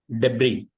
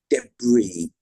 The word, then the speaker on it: debris: just colel yeah col debris that's right debris yeah is a more emphasis than b debris debris again that's a French word and you know with the S on the end is silent that's a French rule